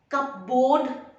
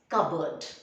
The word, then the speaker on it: cupboard: it's in the cupboard cup board many people say cupboard no it is covered remember the p and the r both are not pronounced if you are going